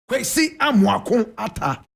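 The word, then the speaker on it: Kwesi Amoako-Atta: Kwesi Amwakun Ata.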